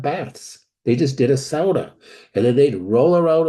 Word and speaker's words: sauna: used to take a sauna and of course the fins don't call it a sauna it's a SAA okay you're in Minnesota